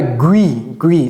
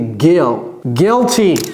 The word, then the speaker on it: guilty: Ne dites pas gui, c'est pas gui, hein, c'est guilty.